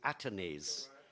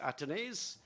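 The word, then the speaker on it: Athanaze: down the leg side or should I say atones yeah I think uh We've we've had various pronunciations for his name but he himself has said his name is called atones so good to hear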